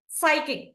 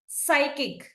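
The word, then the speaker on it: psychic: టు the second one సైకిక్ సైకిక్ ఇక్కడ కూడా పి ని మనము సైలెంట్ చేసాము అండ్ కమింగ్ టు ఆప్షన్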